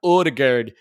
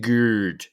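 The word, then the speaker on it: Ødegaard: stay with you martin odegurd goals plus assists over under five it's pronounced geared and just under under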